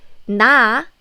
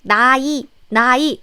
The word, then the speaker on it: 나의: So I need to pronounce it like 나이, right? I'm sorry, but nope. This 의 is different. Here, this 의사, 희망, 강의 is just part of the word. It's just one syllable of the word. But 의 here is a particle. You know the possessive particle 의?